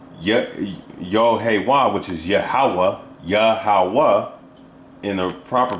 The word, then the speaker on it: Yahweh: But like you read up here, Yohahan, and right here it says Yod-Heh-Wah, which is Yahweh, Yahweh, in the proper pronunciation, because that's the name that they were